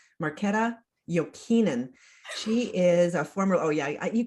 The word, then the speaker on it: Jokinen: Jokinen, Marketta Jokinen. She is a former, you got to pronounce the last name correctly when you can, right?